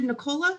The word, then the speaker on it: Nicola: for me okay um dr nicola is that how you say it yes okay dr nicola if